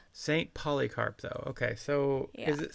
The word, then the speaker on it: Polycarp: Polycarp though. Okay. So, is it spelled like it's spelled? Yeah, it's spelled like it sounds like poly as in polyamorous carp as in the fish.